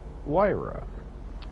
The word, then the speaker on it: Huayra: This car in real life is based off of the Pagani Huayra. That's the Italian pronunciation.